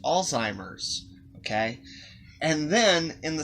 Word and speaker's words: Alzheimer's: that he has alzheimer's not all timers it's pronounced alzheimer's okay and then in